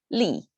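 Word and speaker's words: 力: example to show you same pronunciation same tone falling tone li and it's easy to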